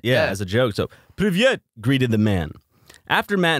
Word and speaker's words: Привет: Привет. Is that really just... Yeah, okay. It means hello. I was about to actually just say... You said привет. Yeah, as a joke. So, привет, greeted the man.